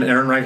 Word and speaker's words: Ehrenreich: I like Alden Ehrenreich.